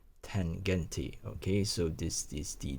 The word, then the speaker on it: Tangente: I hope I'm pronouncing that correctly, because in German they tends to pronounce word as it is written. So Tangente.